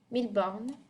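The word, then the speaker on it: Mille Bornes: And you see here, you're actually going to pronounce it 1000 because you're saying 1,000. Oh, let me move my head. 1000 bornes.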